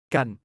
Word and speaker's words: กัน: 바로 그것이 태국어에서 깐이 하는 역할입니다. 깐 건처럼 발음하지만 소리가 더 부드러워서 거의간에 가깝습니다.